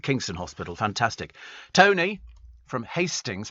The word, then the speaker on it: Hastings: Tony from Hastings, pronounced Astings.